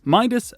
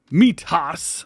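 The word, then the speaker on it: Mitas: from torg Michelin Continental Midas bkt or sorry meas I've been told I've been saying it wrong and verin tires you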